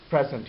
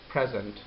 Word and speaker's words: present: the word, that is present. So let's suppose that it has two syllables. One is pre, the other is zent. When the first syllable is stressed, it becomes present.